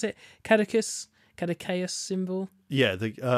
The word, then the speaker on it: Caduceus: how do you pronounce it? Catechus? Catechaeus symbol? Yeah, the Caduceus.